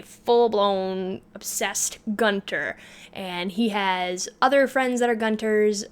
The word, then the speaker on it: Aech: obsessed Gunter and he has other friends that are Gunter's mainly one waffle embarrassed he has one main friend who is a Gunter and his name is H spelled aech but pronounced H and they they their